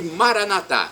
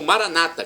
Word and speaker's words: Maranatá: E Maranatá, como dizemos nós católicos, ou Maranata, como dizem nossos irmãos separados, os evangélicos ou protestantes, não importa a pronúncia, somos todos irmãos, e o significado é o mesmo.